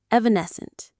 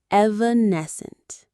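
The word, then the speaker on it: evanescent: Say it with me now. Evanesscent. Evanccent. The main stress is on that third syllable ness. Evanesscent.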